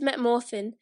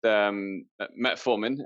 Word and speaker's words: metformin: How does Metamorphin work in terms of helping insulin work better? I think it's normally produced metformin.